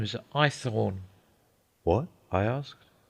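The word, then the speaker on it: Haythorne: My name is Ethornne. What? I asked. Ithorn, sir. Ithornne. Spell it.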